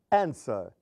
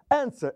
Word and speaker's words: answer: dois exemplo zinhos velop answer esses dois exemplos também são verbos terminados em consoante vocal consoante mas vejam que a sílaba tônica não é a última develop é a segunda answer é a primeira então aí nós não